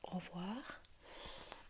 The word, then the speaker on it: au revoir: So you're right, goodbye is au revoir. And we've got au. It's split into two words.